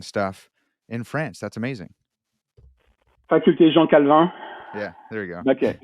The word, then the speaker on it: Faculté Jean Calvin: Faculté Jean Calhoun probably, or Calvin in France. Can you pronounce that for us?